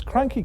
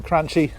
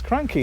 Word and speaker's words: Cranchi: these i pronounce them crunchy every time quite rightly i get told off because the official pronunciation even though it looks like crunchy it's cranky and the reason i